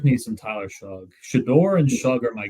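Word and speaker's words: Shough: Shug. That's right. Yeah. It's like weird. You're a huge fan of Zach. I I like me some Tyler Shug.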